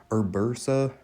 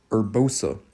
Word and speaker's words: Urbosa: Urbursa. Let me say that again. That's one I shouldn't be pronouncing wrong. I actually know who that is. Urbosa is Ursa.